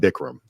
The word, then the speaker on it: Bikram: It's based off of Bikram yoga. We just do it a little differently. How do you pronounce it? Bikram. So it's not Bikram.